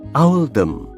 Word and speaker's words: Oldham: Pilihan ini dibuat untuk mencerminkan pelafalan Oldham dalam aksen lokal, yaitu Owldham.